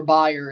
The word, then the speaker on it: Bayer: for buyer as well the way the Americans say it the company so of course pretty obvious to open the stadium against buyer Liverpool buyer liver buyer Leverkusen when I'm talking about the company I say Bayer when I'm talking about